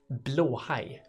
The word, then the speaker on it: blåhaj: The correct pronunciation is blåhaj.